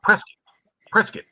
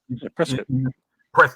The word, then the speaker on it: Prescott: Well, it's pronounced Prescott. That's how you say it. Prescott.